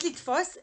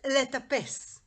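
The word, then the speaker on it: לטפס: No, not litfos. Letapes.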